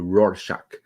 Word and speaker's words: Rorschach: clockwork orange rorschach is that is difficult to pronounce from you roar shock um we got an announcement from yen toys